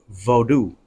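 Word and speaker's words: Vodou: slave trade and shipped to Haiti the Fawn pronounced their religious belief as vodu uh spelled v-o-d-o-u instead of v-o-o-d-o-o okay now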